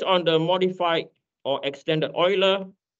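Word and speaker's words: Euler: me why this is the EU is Oiler anyone any German descendant don't be embarrassed because it affects me a lot my name is so when it's Oiler it pronounced as OE right okay help me clarify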